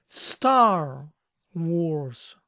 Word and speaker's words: Star Wars: Pulp Fiction Pulp Fiction para decir correctamente en inglés la guerra de las Galaxias deben poner la acentuación en la primera palabra Star Wars Star Wars Star Wars